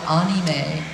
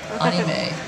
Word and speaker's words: anime: have to know that I've been mispronouncing it for ages I've always called it anime onime but who knew so I figured that you